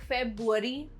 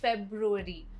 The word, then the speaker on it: February: February को अक्सर लोग February बोलते हैं, but the correct pronunciation is February.